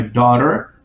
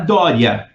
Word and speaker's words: daughter: I helped my daughter. Olha essa palavra aqui, ó. É fácil de pronunciar, difícil de escrever só. Dó, né? Lembra do dó, ré, mi, fá? Daughter. Daughter. Não é Dória, tá?